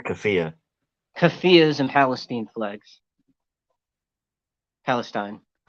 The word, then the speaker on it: keffiyeh: I don't know how to pronounce that word. I believe it's Kafia.